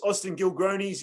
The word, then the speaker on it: Austin Gilgronis: Austin Gilgronis is how you pronounce it.